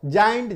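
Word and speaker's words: giant: जी के बाद जाइंट, जी आई ए एन टी, जी के बाद आई आया तो ज साउंड करेगा, जाइंट।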